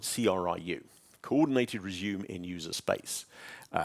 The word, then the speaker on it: CRIU: Now, if you look at Linux, Linux has a piece of technology that's called CRiU, Coordinated Resume in User Space, or as some people try to pronounce it, CRiU.